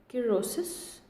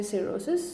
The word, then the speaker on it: cirrhosis: So the pronunciation is basically cirrhosis. We can also say cirrhosis.